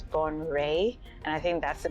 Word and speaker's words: Bonwire: When you look at the spelling, it reads Bonwire, but apparently it's Bonwire.